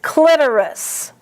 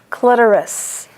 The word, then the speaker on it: clitoris: And the only pronunciation for this next word is clitoris. The accent is CLIT, clit, clitoris. Coccyx and coccygeal.